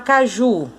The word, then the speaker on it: caju: Agora vamos chamar caju. Caju! Pronto. A sílaba tônica é o ju.